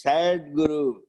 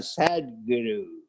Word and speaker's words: Sadguru: Sadguru means sad guru. They chant, you know, especially sometimes Australian pronunciation, sad guru. Sad guru. It is not sad guru, it is Sadguru.